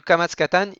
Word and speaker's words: kamatz katan: Et le kamatz katan, il se prononce exactement de la même manière.